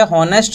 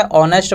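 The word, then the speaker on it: honest: इसी तरीके से एन ऑनेस्ट बॉय, तो यहाँ देखिए हॉनेस्ट नहीं पढ़ेंगे, एच का साउंड नहीं आएगा, एच साइलेंट है, ऑनेस्ट पढ़ते हैं, तो इसीलिए अ का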